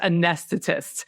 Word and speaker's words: anesthetists: I figured it. It's anesthetists. Yeah. There you go. It is generally pronounced anesthetists, but frequently we refer to as CRNAs.